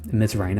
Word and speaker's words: Mzrayne: Ms. Rain, I think it's spelled Mzrayne.